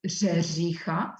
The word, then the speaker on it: řeřicha: What is very difficult to pronounce is kres. It's R-E-R-E-C-H-A. It's Řeřicha, so it's very difficult to pronounce.